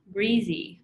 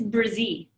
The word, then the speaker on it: Brzee: It's Brzee. It's not breezy. I hear people pronounce it that way. Please don't. Please stick to what it actually is spelled exactly how it sounds.